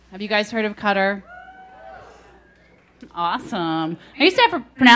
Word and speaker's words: Qatar: Have you guys heard of Qatar? Awesome. I used to have to pronounce it for everybody. I mean, the first time I heard Qatar, I was like, what? Are you talking about bug spray?